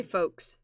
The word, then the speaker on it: folks: voice boom i say folks it's like f-o-h-s f-o-h f-o-h it's more like a name smokes it's folks there's an l folks folks folks yeah that's all silent letter jacob no they're silent